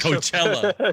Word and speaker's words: Coachella: That was that was a big thing in Chocella or 2016. Choke. What? How do you say Coachella. that? Coachella.